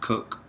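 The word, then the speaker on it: CUC: two types of currencies there is the the cook they call it it's spelled CU but it's pronounced cook and it stands for the Cuban convertible pce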